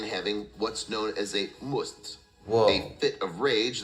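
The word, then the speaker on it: musth: what's known as a must, Whoa. a fit of rage that occurs in elephants at the time of puberty. Actually, it's pronounced must.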